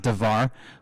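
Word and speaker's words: דבר: And those, that word right there at the bottom is translated as davar, or excuse me, you pronounce it davar, but it can be translated as to speak, to talk to somebody.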